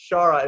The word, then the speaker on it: ShaR4: The way you spell it, I guess you have another capital R at the end, right, and then a 4, but it's pronounced ShaR.